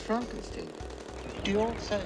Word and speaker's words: Frankenstein: Frankenstein. Frankenstein. You're putting me on. No. Oh my god. It's pronounced Frankenstein.